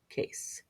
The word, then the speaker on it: case: Case has 2 vowels, but the E is silent. So we only hear 1 vowel sound, which makes 1 syllable. Case.